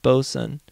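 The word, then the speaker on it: boatswain: first a quick tutorial a boat Swain oh God pronounced bosen oh at least they're finally telling me how to pronounce things a bosen pronounced bosan is an unlicensed member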